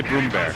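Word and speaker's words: Brummbär: comes come on bro i should say broom bear we should teach we need to teach co2 casters how to pronounce this yeah rhymes with groom and bear bear like like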